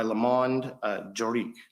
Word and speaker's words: Le Monde Juridique: the Business Legal Advisor of the Year by Le Monde Juridique. Is that correct? That's correct. And did I pronounce it correctly?